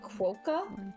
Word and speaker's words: quokka: You look at top 10 happy animals, the quokka? Yeah, the quokka. Yeah, the quokka. Quokka. That's how it's pronounced.